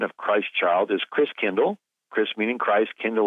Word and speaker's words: Christkindl: And the German pronunciation of Christ child is Christkindl.